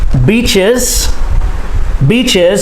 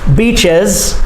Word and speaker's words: beaches: Beaches, 2 syllables, plural, beaches, and the S makes the Z sound, beaches.